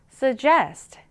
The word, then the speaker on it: suggest: 발음할 때는 강세를 뒤에 강하게 줄까요? 그러면 suggest suggest네 제한하다라는 의미를 가진 단어예요.